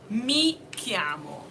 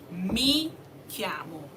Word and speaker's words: mi chiamo: I'm going to pick mi chiamo. Mi chiamo.